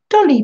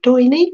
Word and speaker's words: doily: Dolly paper. Ooh. It does look a bit like a doily. Doily or dolly? Am I saying it wrong? Doily.